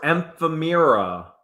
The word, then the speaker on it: ephemera: All right, postcards, ephemera.